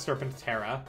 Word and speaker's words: Serpentar: Uh, posted Serpentar. It's pronounced Serpent Terra.